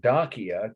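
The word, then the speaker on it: Dacia: current events connection here dakia d i'll spell it slowly for you it was an ancient kingdom on the border of the roman empire in eastern europe d-a-c-i-a-n dakia it was called but the donkey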